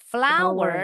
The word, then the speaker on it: flour: Ini bacanya sama kayak bunga. Bahasa Inggrisnya bunga apa nih? Tepung terigu bacanya. Hm. Bunga. Bahasa Inggrisnya bacanya gimana? Bunga. Flower. Flower. Nah, sama bacanya. Put the flower.